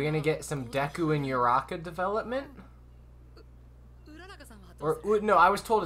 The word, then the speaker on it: Uraraka: Are we gonna get some Deku and Uraraka development? No, I was told it's Uraraka. I was told to pronounce it differently. Ooh, like it's the double O's are like ooh.